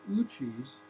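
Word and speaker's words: Ouchi: It's called Uchi's Theory Z.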